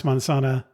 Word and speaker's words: Manzana: It's called the Manzana Schoolhouse. And now I'm tempted to pronounce manzana in the Spanish pronunciation, but I'll try to do the English pronunciation, which sounds wrong to me.